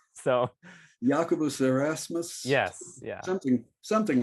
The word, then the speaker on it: Jacobus: I've been told that it's Well, I've heard some people say Jacobus, but I've I've I've heard from better people that it's like Jacobus. Yeah, Jacobus. I've I've been told that that's a better pronunciation.